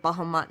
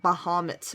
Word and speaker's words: Bahamut: from like oh so I know people pronounce it differently but I've always quoted bahama and that's what I'm gonna call it not bahamut's which probably makes more sense I will give you